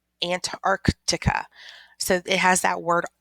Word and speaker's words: Antarctica: when we're talking about this continent we say Antarctica but we really need to make sure that we pronounce the second see aunt Arctica Antarctica so it has that word Ark inside of